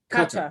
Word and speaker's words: Qatar: Qatar. Okay. Yeah. So like cutter, like we're cutting something.